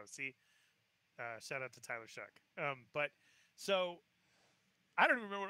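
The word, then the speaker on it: Shough: Pronounce this word, S-H-O-U-G-H. S-H-S-H. Oh, you. Shug. Yep, there we go. See? Shout out to Tyler Shug.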